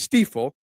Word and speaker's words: Stiefel: So that's why my name is Stiefel, but in German it's pronounced Stiefel because the I is pronounced E.